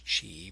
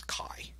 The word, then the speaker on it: chi: probably pronounce this as Chi but it's it's Greek it's Chi all right so chi-square